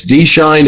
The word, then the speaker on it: Schein: You know, the EI is pronounced for the German spelling.